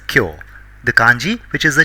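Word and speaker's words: きょう: It is not kyo, but pronounced as kyo.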